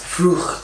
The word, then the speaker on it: Frucht: That's the CH sound that Americans do not usually pronounce. Frucht.